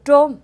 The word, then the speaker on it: trôm: Bắc thì đọc phát âm chữ T-R không rõ. Dạ. Nên người Nam thì họ gọi cái mũ trôm là T-R, trôm.